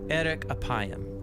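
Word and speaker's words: אֶרֶךְ אַפַּיִם: in Hebrew the phrase slow to anger is pronounced Eric aayam or literally long of nose but what does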